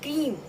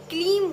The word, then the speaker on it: क्रीं: जो बीज मंत्र है, जैसे उसका सही उच्चारण जो है ना, जो दुर्गा सप्तशती में दिया गया है, वो है क्रीम। माँ का बीज मंत्र है क्रीम, ओम क्रीम कालिकाय नमः। लेकिन जो नवान मंत्र है, जिसमें 3 महाविद्याओं के बारे में बताया गया है, उसमें इसका उच्चारण क्लीम होता है।